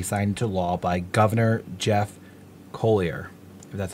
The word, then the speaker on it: Colyer: beliefs will be signed into law by governor Jeff Colyer that's how you say it that is a